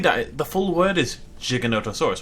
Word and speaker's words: Giganotosaurus: It's weird that the full word is Giganotosaurus, right? It's a soft G. It's a J.